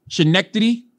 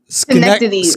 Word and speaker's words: Schenectady: How's it pronounced? Christian Schenectady. Schenectady. Whatever. That's Cincinnati. Same thing. It's Schenectady.